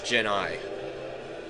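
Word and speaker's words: djinni: plural and singular but apparently it's gen i which is pronounced like jenny which i think is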